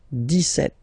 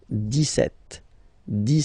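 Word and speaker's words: dix-sept: But then for the pronunciation, 17. Okay, so you don't insist on the s. 17, 17, 17.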